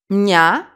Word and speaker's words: μια: But, μια, one syllable, no accent. Iota and alpha are pronounced together.